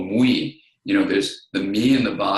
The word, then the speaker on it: MWE: That is, there's a word I use called mui. You know, there's the me in the body, there's the we in our connection, and identity can have this integrated quality of a mui. And it's spelled MWE.